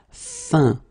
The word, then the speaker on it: fin: Numéro 13, it's this un, so nasal, it goes in your nose, un, fin, okay, fin, un, fin.